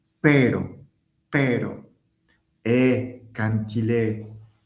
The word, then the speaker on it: pero: Alors, quand il est au milieu d'un mot et qu'il s'écrit avec un seul R, il est doux. Pero per et quand il